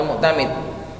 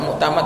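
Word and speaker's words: المعتمد: Bacanya almuktamid dikasr diharakati kalau gak nanti kebingungan sama muktamad atau muktamid.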